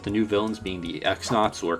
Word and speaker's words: X-Nauts: TTYD also has a more interesting story, with the new villains being the X-Nauts, or Cross-Nauts if you pronounce it that way, led by Sir Grotus instead of Bowser.